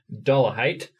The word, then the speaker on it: Dollahite: We are here today with David Dollahite.